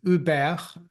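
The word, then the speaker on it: Hubert: him his name is Uber that's the French pronunciation or Hu Keller and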